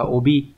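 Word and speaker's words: 帯: Đọc là obi.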